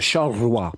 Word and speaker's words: Charleroi: Did I say that right, Josh? Charleroi. No. How do you say that? Charleroi.